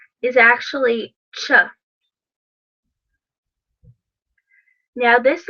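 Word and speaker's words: Ч: What looks like a 4 is actually ch.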